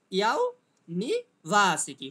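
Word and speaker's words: university: নি এর উপরে কিন্তু কোনো স্ট্রেস নেই, তার উচ্চারণটা হবে কেমন, ইউনিভার্সিটি, ওকে, এমন হবে সঠিক উচ্চারণটা।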